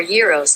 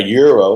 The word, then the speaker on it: gyro: rotisserie there you go a euro or euros pronounced correctly is a greek dish so that's how it's pronounced but with that google